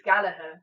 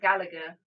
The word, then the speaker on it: Gallagher: So, as you'll see in some of the comments here, it's Galaher, not Gallagher. Galaher. The second G is silent.